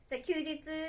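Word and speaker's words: 休日: Từ "休日" có nghĩa là "休みの日 (một ngày nghỉ)" và được đọc là "kyūjitsu."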